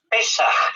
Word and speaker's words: pesaj: palabra hebrea lo saben es pesaj terminado en j y con la acento en la e Es simplemente Una curiosidad